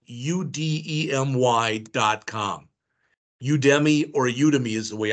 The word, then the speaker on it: Udemy: Udemy or Udemy is the way I pronounce it.